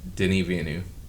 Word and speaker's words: Denis Villeneuve: Denis Villeneuve.